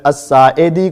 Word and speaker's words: الساعدی: بولنا نہ آتا ہو، تو اسی طرح آپ ابو حمید الساعدی کو سعدی سعدی سعدی سعدی کہتے ہیں۔ یہ اپنی اصلاح کیجئے